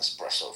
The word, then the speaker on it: espresso: Mohan, you're smart enough to know that it's spelled E SS, not ex.